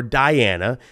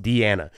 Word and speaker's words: Diana: Deanna could be Deanna or Diana, and you could say Deanna sometimes spelled D-E-A-N-N, you know, and that's always Deanna, but like, I've literally had D-I-A-N-A just like this, but it's pronounced Deanna.